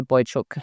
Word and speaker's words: Boiciuc: And in case you're wondering, a little girl chook and a little boy chook fell in love and got married. And that's how I taught my kids to say Boiciuc, so that they can